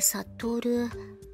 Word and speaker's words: 悟: が難しいけどさ悟るです赤月と書いて悟るって読みます暁月って名前